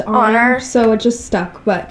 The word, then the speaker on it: Oner: sorry Lexi and I got in the habit of saying Warner before we knew it was pronounced honor so it just stuck